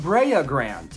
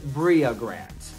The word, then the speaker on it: Bria Grant: not rachel kohler craft bria grant the director of torn hearts it is not brea grand it is bria grant and also it's angela